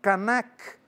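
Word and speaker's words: kanak: Canac é com K. Aliás, o a gama é a g a m a. Temos o pantum canac. Canac é k a n a k.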